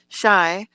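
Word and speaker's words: Chia: or the area called c-h-i-a which is pronounced shy and i'm the person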